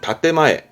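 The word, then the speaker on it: 建前: 그런 것들을 말할 때 쓰는 단어인데 발음은 혼내, 혼내. 반대말도 많이 씁니다. 반대말은 다떼마에, 다떼마에라고 해서 건물의 건자죠?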